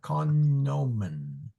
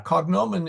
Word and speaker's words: cognomen: see what he used yeah he pronounced the G oh as in cognomen yes yeah yeah cognomen it should be pronounced and the reason is